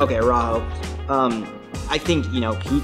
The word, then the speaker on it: Araujo: I think Araujo is how you pronounce it. Okay, Araujo.